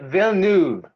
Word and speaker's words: Villeneuve: I didn't realize that Denis Villeneuve, is Ooh, that how that's you pronounce his name? actually- Director? Villeneuve.